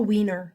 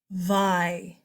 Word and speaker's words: Weimar: It's not the Wiener. Kids are always like, oh, it's a Wiener Republic. No, it's not. It's not even spelled the same way. And there's no N. Weimar.